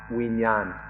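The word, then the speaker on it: วิญญาณ: The Pali word is vijnana, or in Thai it's pronounced vinyan, and it's given different meanings by different people.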